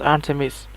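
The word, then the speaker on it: Art3mis: the blog of a female Gunter named Artemis, pronounced Artemis.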